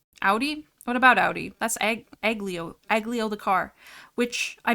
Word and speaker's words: aglio: I'm like, it's not pronounced aglio? But I'm pretty sure the G in Italian is silent.